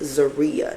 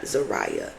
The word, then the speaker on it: Zaria: Is Zaria, not Zariah.